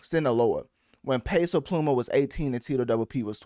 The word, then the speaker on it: Sinaloa: Yeah, Sola. Uh, well, no, Sinloa. Yeah, that's I I knew I was pronouncing that wrong. Sinaloa.